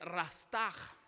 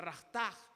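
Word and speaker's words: רצח: La palabra que se utiliza por matar es una palabra en hebreo que es rastaj. Se escribe rastash, pero se pronuncia rastaj.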